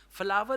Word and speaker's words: flour: Pakistan Flor meal Association and if you say flower they will say you are crazy flower is rose flower is not ATA okay this is your pendu English but this is the right one flower flower or you can also call it flower FL flower like the same you pronounce uh rose rose is a fler flow Rose is flour so flower flour but flower is better same is for Arta